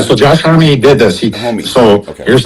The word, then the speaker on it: Homme: So Josh Homme, Homme. Yeah. So Josh Homme did this. Homie. So Okay. here's how the story It's went. actually pronounced Homie.